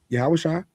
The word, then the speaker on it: Yahushua: But I can tell you beyond a shadow of a doubt, yes, Yahushua that's how you actually pronounce the name, by the way, for those in the know.